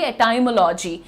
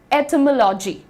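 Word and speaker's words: etymology: अभी बहुत रिसेंटली तक बहुत कंफर्टेबली कहती थी एटाइमोलॉजी। लेकिन दोस्तों आप यहां पर ध्यान से देखिए। इसका प्रोनाउंसिएशन तो मैंने लिखा ही नहीं। ओ ये रहा। ठीक है? ये रहा प्रोनंसिएशन। इट इज़ एटमोलॉजी।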